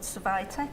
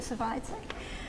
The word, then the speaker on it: Survitec: I work for a company called Survitec, or Servitec. I think most people pronounce it Survitec.